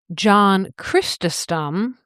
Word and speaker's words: Chrysostom: John Chrysostom, that's spelled c h r y s o s t o m, his sermons described eternal punishment in sensory detail.